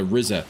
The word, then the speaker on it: RZA: By the way, it's pronounced uh Rizza.